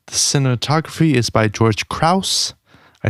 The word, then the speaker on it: Krause: The cinematography is by George Krause.